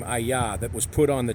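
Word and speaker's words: אהיה: Aleph, He, Yod, He, pronounced HAYAH. Just like the verb that the Jewish people use every day for the meaning of existence.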